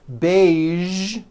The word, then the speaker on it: beige: television very good now there are only a few words that have the voiced sound at the end a few of these words are the color beige the word massage and the word prestige okay now that you are